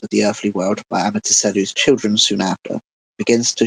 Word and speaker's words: Amaterasu: Amaterasu. Or Amaterasu, sorry. I've been saying her name wrong a lot.